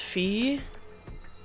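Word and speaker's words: Phi: I've also heard that this is pronounced fee.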